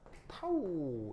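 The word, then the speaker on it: τ: 자, 얘는 이거 뭐냐면 극소 부피 변화를 최적소라고 하는데 그걸 이제 어떻게 표현하냐면 바로 d 타우 이렇게 쓰고 얘를 이럴 때 뭐라고 읽냐면 타우 이렇게 읽습니다. 타우.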